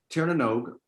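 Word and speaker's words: Tír na nÓg: because iris is a crazy language guys uh tiernanog uh is the irish the land of the fairy folk that's where all the fairy people the clericans all those sorts of creatures live in tiernanog and you actually say it nog and i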